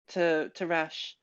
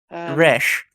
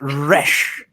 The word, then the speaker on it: Resh: Sorry, I've been to a lot of places, but I've never been to Rash. Resh. Yeah. It's pronounced Resh.